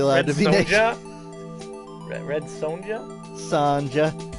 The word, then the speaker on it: Sonja: to be Red Sonja Sanja pretty sure it's Sonia you know you'd think I've never heard yes but I've heard people say her name and it's always Sonia she fought the J she